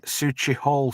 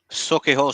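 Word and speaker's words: Sauchiehall: Then in Sushi Hall Street, is that did I pronounce that right, Mel? Suki Hall Street.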